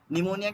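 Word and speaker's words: pneumonia: होनी चाहिए ना नहीं प से क्यों प की तो आवाज नहीं आ रही निमोनिया नहीं व साइलेंट है साइलेंट है तो ज लगा दो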